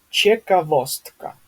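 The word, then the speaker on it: ciekawostka: Ч как чековостка, да, то есть что-то интересное.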